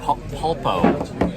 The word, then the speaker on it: pulpo: What do they call it here? Pulpo. That's how you say it in Spanish.